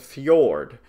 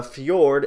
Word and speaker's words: fjord: there would be a new tab here called Fjord.